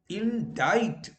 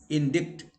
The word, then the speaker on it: indict: Also, when C follows a Q, now let us see, acquire. So C is silent. Acquire, acquainted, indict. Okay, you don't say, in India we only say indict.